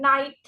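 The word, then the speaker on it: knight: So now when we pronounce the word night, the K is silent.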